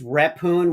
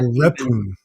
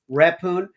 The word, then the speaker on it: Rephun: It's repoon which is not repoun. Repune.